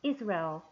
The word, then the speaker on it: Israel: 자, 우리 이스라엘이라고 하는데 영어에서는 Israel. 왜냐면 이 I 앞에 있는 여기 강세가 있기 때문에 first stress 강세이기 때문에 Israel 이렇게 발음이 되는데요.